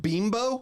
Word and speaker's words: Bimbo: pronounced Bimbo. Yeah, it's a Mexican brand.